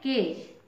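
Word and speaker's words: cage: के इसका प्रोनंसिएशन है केज केज मींस पिंजरा देखिए जी का जो साउंड है ज हो रहा है है ना जी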